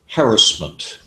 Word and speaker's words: harassment: of that but uh we in America have uh have tended to wander off into a a different pronunciation and stress the second or the third syllable instead things like uh harassment harassment GRL you see